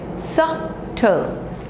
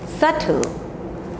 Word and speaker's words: subtle: This is doubt, debt, debt, and this is subtle, subtle, subtle, not subtle, subtle.